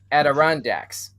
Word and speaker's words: Adirondacks: I'm getting a note passed to me by Control saying that the correct pronunciation is Adirondacks.